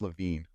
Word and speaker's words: Levin: pass it's it's pronounced you spelled it right it's it's pronounced LaVine oh okay good we